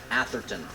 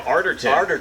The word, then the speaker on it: Arterton: We were looking for Gemma Atherton. Gemma Arterton.